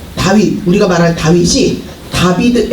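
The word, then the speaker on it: דוד: 다윗이 이름이 히브리어로 음 다윗 우리가 말하는 다윗이 다비드 앤 이이야 그럼 왼쪽부터 다비드 이렇게 된게 아니라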